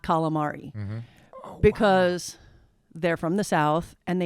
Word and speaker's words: calamari: calamari becomes galamad. Now, Wow. if you go to Calabria, they say it more similarly to that than they do to the real Italian pronunciation.